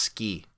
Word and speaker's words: suki: Suki. It means liking, fondness, love. The first thing to know is that, although the Romanized spelling is S-U-K-I, it's pronounced ski, like the winter sport.